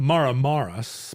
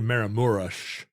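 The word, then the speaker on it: Maramureș: off them right so it looks like it's spelled maram marus but it's actually maramures but his name was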